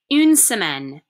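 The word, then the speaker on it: une semaine: a day is anger anger a week is pronounced unsemen in so in that song we just listened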